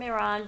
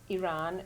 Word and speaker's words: Iran: Can we please pronounce Iran correctly? Thank you, Rina. Thank you. It's something that it's a personal thing that irks me a lot. Yes. Iran invokes an action of running. Iran.